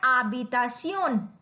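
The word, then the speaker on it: habitación: We write H बट we don't pronounce it. Like here again please divide this word uh बी ता सियोन, आबितासियोन।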